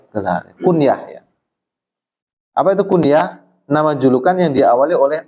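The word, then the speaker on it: الكنية: Itu bacanya bukan kunyah, tapi apa? Kunyah, al-kunyatu.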